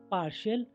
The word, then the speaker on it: partial: टी श कब बनेगा? टी के बाद IA, IE, IO आएगा तो टी का उच्चारण श हो जाएगा। INI TIAL इनिशियल शुरुआती, PARTIAL पार्शियल आंशिक या पक्षपात, RATIO